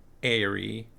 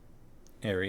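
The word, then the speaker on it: eyrie: Farmos, the internet says Airy, even though it's spelled Irie. Airy in North America. Like Airy.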